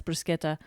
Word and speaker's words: bruschetta: head couldn't tell you it's ch in Italian is kur yep and just C by itself as a church sound yeah so it's very confusing and every time I pronounce bruschetta properly at a restaurant